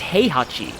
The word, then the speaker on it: Heihachi: Oh, actually, it's Heihachi. That's actually how it's pronounced.